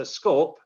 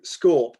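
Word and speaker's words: scaup: uh recommends that a scorp rhymes with corp do you know i'm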